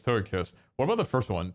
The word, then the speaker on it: Togekiss: To how do you pronounce toga kiss? It's toga kiss.